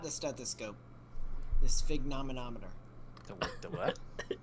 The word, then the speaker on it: sphygmomanometer: The sphygmomanometer. The what? Sphygmomanometer.